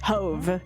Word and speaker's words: Hove: Hoveve. It's supposed to rhyme with clove.